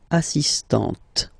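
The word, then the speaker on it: assistante: on the T assist so don't pronounce the final here but for the feminine form assistant okay assist assistant all right then we've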